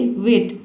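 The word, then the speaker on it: weigh: क्योंकि देखिए यहां पे जो है ई आई जी एच एक साथ आता है तो इसे हम केवल ए पढ़ते हैं। ठीक है? किसी भी वर्ड में आपको इ आई जी एच अगर एक साथ दिख जाए तो इसे केवल ए पढ़ते हैं। चारों लेटर को मिलाकर हम एक लेटर में ए प्रोनाउंस करते हैं।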